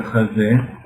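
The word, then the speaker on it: חזה: Het, zain, he, ejezé, significa, en hebreo se pronuncia hazé, y hazé significa pecho.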